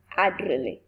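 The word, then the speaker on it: Ederle: The pronunciation of the word, the pronunciation of the name is Gertrude Adrelle.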